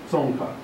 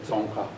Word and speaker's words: Tsongkha: Changes happen in the second syllable, third syllable. tsongkha. So it's very hard for me, even, now that I've formulated this system, to not lower it and say tsongkha.